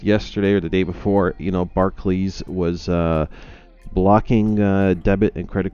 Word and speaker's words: Barclays: Is it Barclay or is it Barclay? I've always thought it was Barclay. I think it's Barclays. Any Brits in the chat want to clarify the pronunciation of Barclays?